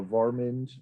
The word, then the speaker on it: Warmind: uh celtics is called morton uh varmind um it's spelled warmind he's a danish celticist